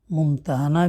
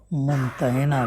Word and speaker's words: ممتحنہ: نام الممتحنہ رکھا گیا۔ اس کا تلفظ ممتحنہ بھی کیا جاتا ہے اور ممتحنہ بھی۔ پہلے تلفظ کے لحاظ